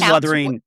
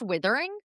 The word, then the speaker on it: Wuthering: It is Wuthering. Is it pronounced Withering?